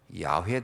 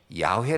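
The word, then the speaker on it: 야훼: 라고 번역을 한 거죠 근데 나중에 알고 올 프 햇더니 여호와 가 아니고 야외 더라 그래서 사실은 진 야외 라는 말이 더 정확한 발음입니다 야외에 근데 에 야외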